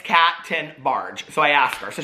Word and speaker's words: Tenbarge: make sure and it's captain barge so i asked her so she's like 10 and then barge like the boat so anyway thank you